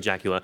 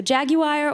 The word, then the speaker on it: Jaguar: It still looks like a Jaguar, but has all the benefits of being electric.